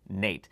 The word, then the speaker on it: N8: 60 and the n8 it's actually pronounced Nate as it's named after Grammy winning bassist Nathan East now both of these